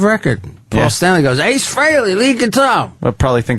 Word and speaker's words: Frehley: Frehley. I always spell it wrong. A lot of people Everyone pronounce says it it freely, wrong.